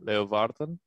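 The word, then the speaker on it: Leeuwarden: friends that went to uni up in uh leovarden yeah yeah so i spent a lot of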